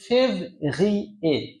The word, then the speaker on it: février: দ্বিতীয়টা ফেব্রুয়ারির ফরাসি হচ্ছে février।